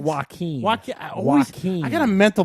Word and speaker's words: Joaquin: Is it Jacqueline Phoenix? It's Joaquin. Joaquin. I got a mental block when it comes to his name. I always look Jackin'. at Those are called Joaquin, Jacqueline now.